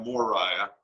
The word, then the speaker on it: Moriah: with an o yeah right right now Mariah Moriah right and I pronounced your last name wrong I thought I